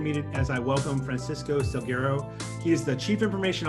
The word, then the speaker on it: Salguero: So last name is Salguero, if you do a Spanish pronunciation.